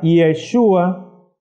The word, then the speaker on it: Yeshua: se llama iota enseguida Aunque en el hebreo no escribimos la e pero se pronuncia yeshua que al menos a